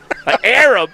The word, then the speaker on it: Arab: The name you know it's called Arab.